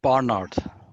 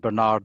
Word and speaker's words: Bernard: it bernard bernard well the governor himself pronounced his surname barnard barnard and i know uh americans pronounce it bernard but use whichever version